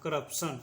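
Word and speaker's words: corruption: अब सबको जोड़ कर पढ़िए, इसको पढ़ेंगे क र प स न, करप्शन, इसको पढ़ेंगे करप्शन, ठीक है।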